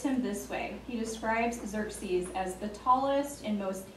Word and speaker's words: Xerxes: Xerxes. You'll be thinking about that tonight when you get ready to hit the hay. So according to a Greek historian, he describes him this way. He describes Xerxes as the tallest and most handsome of the